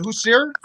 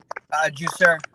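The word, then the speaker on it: Jussier: Is it Hussein? Juicer.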